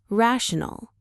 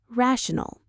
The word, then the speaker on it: rational: being our ninth word, rational. Let's pronounce it. Ra, shun. The syllables are ra shun. The main stress is right at the beginning.